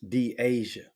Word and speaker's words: Deasia: thanks uh kendall gamble the correct pronunciation of dd's real name is d asia who tried to correct